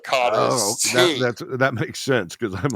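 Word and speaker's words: cara: And but when they pronounce it, it sounds like it's a T, right?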